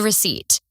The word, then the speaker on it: receipt: It's spelled RECEIPT, but the P is silent.